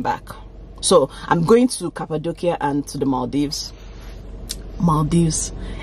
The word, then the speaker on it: Cappadocia: Well, instead of doing Istanbul that I've gone to before, I'm doing Cappadocia. Well, from what I learned, it's pronounced Cappadocia.